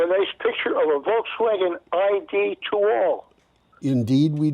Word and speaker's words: Volkswagen: I should pronounce it L a little more carefully. Volkswagen.